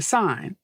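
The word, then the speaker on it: Seine: was the women swimming in the sign right that's how you say it the sign River and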